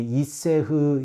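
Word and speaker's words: אִשֶּׁה: 기록되어져 있는 화제라는 단어입니다 화제라고 하는 히브리어 명사의 발음이 이세흐 있데 그 의미는 화제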